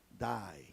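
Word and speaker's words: δεῖ: es traducida necesario es la palabra da del griego se deletrea d e i se pronuncia da como Die en inglés y dice que al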